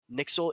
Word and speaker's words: NYXL: Nixel is a let, Western team.